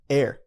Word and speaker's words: err: just told me that the correct pronunciation for that is air to air so there